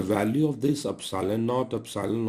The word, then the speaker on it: epsilon: epsilon not epsilon R this is pronounced as eps IL o n epsilon not epsilon R but what